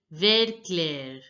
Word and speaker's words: vert clair: Light green is pronounced as vert clair, vert clair. Now notice that here the T is not pronounced and ER sound is pronounced as air, ver, ver. And here clair, Vert clair. that has to be pronounced as air, air.